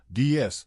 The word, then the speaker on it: DS: The addition of S to D indicated the plural form, but in French, the result, DS, phonetically resembled the word déesse, meaning goddess.